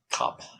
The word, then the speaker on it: kapp: German, it's called the kapp. Kapp. That's how you pronounce it.